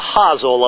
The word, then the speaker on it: hosel: This is called the hosel of the club. That's spelled H-O-S-E-L, hosel.